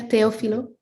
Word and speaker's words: Teofilo: Yeah, Teofilo.